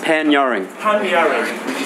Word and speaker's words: Panyarring: How do you say Pan-Yuring? Pan-Yuring.